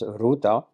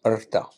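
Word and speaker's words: Ṛta: It is Artha, usually pronounced in India as Rita or in South India as Ruta, but actually pronounced Artha.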